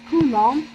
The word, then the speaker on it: coulomb: pay attention to this coulomb because we have a silent b in the end it is not pronounced okay as well as